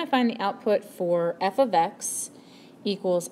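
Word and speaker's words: f(x): there, we want to find the output for f of x equals x squared minus 1. Now, this here, that's pronounced f of x.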